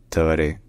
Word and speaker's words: Tabaré: So in Spanish, his name is pronounced Tabaré Vázquez, Tabaré Vázquez, Tabaré Vázquez, Tabaré Vázquez.